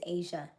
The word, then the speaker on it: Aysia: For example, my name is Asia. As si A means to go out and rise. My name is spelled a y ss i a.